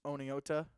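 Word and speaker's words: Oneonta: Lighthouse Homeschool out of I always say it wrong and I get made fun of for saying it wrong. So I'm gonna pronounce it the way that it looks. Oneota, Alabama.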